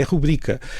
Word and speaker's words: rubrica: é que ou seja, há casos em que há uma parte dos falantes que estão a mudar a sílaba tónica como rubrica, que agora algumas pessoas dizem rubrica, e eu nesse caso digo, não, é rubrica.